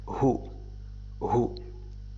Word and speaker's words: who: Who knows, من يعرف, who, W كأنها غير موجودة, who knows, يعرف.